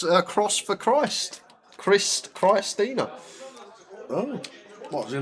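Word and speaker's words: Xtina: It looks like an X. It's spelled X-T-I-N-A. She's probably right, Lime. It's probably maybe because X is a bit like a cross, and cross sounds a bit like Chris. So Chris Tina.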